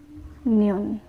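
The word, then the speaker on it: 년: At ang year naman ay neon. Neon, or kapag binigkas mo siya, neon.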